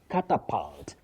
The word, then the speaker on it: catapult: Now catapult. Catapult. Result. So the u takes what we call the mid central sound.